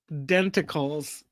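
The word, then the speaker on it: denticles: It rhymes with tentacles. Tiny tiny tiny teeth that sharks have. My whale knowledge is lacking. Oh no, Myra. The answer is indeed dentacles.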